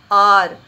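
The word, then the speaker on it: hour: H is silent over here. H is silent. How do we pronounce it? R.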